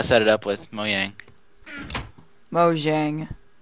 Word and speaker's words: Mojang: Mojang. No, it's Mojang.